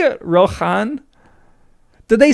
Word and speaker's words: Rohan: This sound was weakened to H in the speech of Gondor and that change has been recognized in a few names. Wait, is he saying you you pronounce Rohan like Rohan Rohirim? The ch is No, the opposite. Okay. So, Rohan should just be Rohan because it Okay. Wait, he means it used to be Rohan.